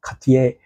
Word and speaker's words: Cartier: Cartier and Cartier I I can also pronounce it properly like French people do Katie I have seen Mark